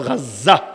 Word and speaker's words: গাজা: মূলত লেখা দরকার হলো গাজা। বাংলায় বলে গাজা। আরবিতে উচ্চারণ হলো গাজ্জা।